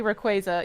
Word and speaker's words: Rayquaza: So Nintendo recently released the official pronunciation of uh of Rayquaza and I'm probably saying it wrong. I think it's actually like Rayquaza or whatever. It's It's supposed to be Rayquaza.